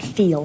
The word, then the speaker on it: feel: That's how she says Phil, not feel. Phil. The first woman with a beautiful dress was not a native speaker. And she mispronounced this word. So we have two words here. The first one is Phil, short E. The second one is feel with long E.